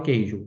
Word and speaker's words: queijo: Veja a palavra queijo. Apesar de ter três vogais, não é tritongo. A letra U não aparece na leitura, diferente de saguão.